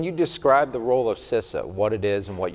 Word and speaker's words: CISA: There's always a debate about is it CISA or CISA or CISA, so CISA is the correct pronunciation.